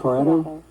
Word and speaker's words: Scarato: And she is being joined in this discussion by the executive director of the Environmental Health Trust, Theodora Scarato. Is that pronounced correctly? Yes. Scarato? Yes.